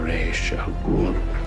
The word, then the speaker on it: Ra's al Ghul: saying his name is the much more common pronunciation. I am Ra's al Ghul.